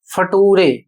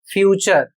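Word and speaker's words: future: अभी एक वीडियो में मैंने देखा है उसमें इसका उच्चारण करते हैं नटूरे। और इसका उच्चारण करते हैं फटूरे। जबकि इसका सही उच्चारण होगा नेचर और इस शब्द का उच्चारण होगा फ्यूचर।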